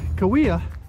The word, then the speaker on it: Cahuilla: it again oh yeah korea i said kui kawia and uh about a three mile hike it's